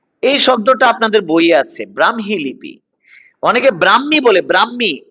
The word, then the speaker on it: ব্রাহ্মী: ব্রাহ্মী ব্রাহ্মী লিপি ব্রাহ্মী এই শব্দটার উচ্চারণ হচ্ছে এটা ব্রাহ্মী কখনো ব্রাহ্মী কখনো ব্রাক্ষী এরকম বলবেন না ব্রাহ্মী লিপি ব্রাহ্মী লিপি নয় ব্রাহ্মী লিপি ব্রাহ্মণবাড়িয়া নয় ব্রাহ্মণবাড়িয়া ব্রাহ্মণবাড়িয়া ব্রাহ্মণ নয় যুক্তবর্ণ ভাঙলে হ ম উচ্চারণে ম হ ব্রাহ্মী লিপি ব্রাহ্মী লিপি